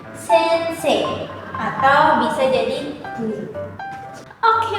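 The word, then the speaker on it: 先生: Nah, ini dibacanya jadi sensei yang artinya adalah guru atau orang yang udah hidup lebih dulu.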